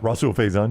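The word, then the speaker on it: Rahsul Faison: Yeah, Rasul Faison.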